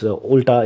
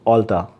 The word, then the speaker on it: Ulta: will do is like sir this is not Ulta this is Ulta you have you don't know the pronunciation so that is the